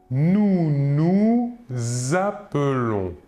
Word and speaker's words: nous appelons: du pluriel nous dirons nous nous appelons que remarquons-nous ici nous faisons une liaison entre le S final du deuxè nous et le verbe appelons nous nous appelons pour